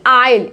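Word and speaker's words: aisle: S silent होता है जब एल से पहले लिखा जाता है, जैसे कि आइल, इसको आइसले या इसले नहीं बोलेंगे, इसको बोलेंगे आइल बोलेंगे।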